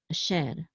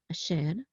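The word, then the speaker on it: אֲשֶׁר: And again, this is the trope mark, so the accent is on sher, a sher, not asher, but a sher.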